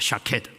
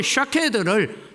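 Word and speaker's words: שָׁקֵד: 살구나무 가지가 뭐냐면 샤케드입니다. 샤케드. 그런데 여러분 지킨다, 이룬다, 지켜본다 이 말은 쇼케드입니다. 그러니까 여러분 발음을 잘못하면 샤케든지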